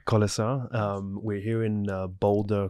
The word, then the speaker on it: Kolesar: me I'm here with Lara kisar am I pronouncing your last name correctly yes kisar kisar um we're here in Boulder Colorado my second